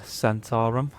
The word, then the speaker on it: Zhentarim: So today we're going to do the Centaurum.